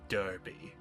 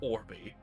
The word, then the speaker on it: D'Arby: It's Darby. My name is Darby. It's not Orby, and it's definitely not Barbie. Don't make that mistake again.